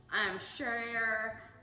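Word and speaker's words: cher: Share, love, shit. It's C-H-E-R, but sometimes we pronounce it S-H-A. So that's Sha.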